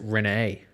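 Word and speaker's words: Rhyne: Like, Ryan Howard's parents pronounce it Renee.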